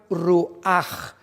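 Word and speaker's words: רוּחַ: La palabra nepej es diferente a la palabra ruach, que también se pronuncia ruach con J, porque termina en CH en el hebreo.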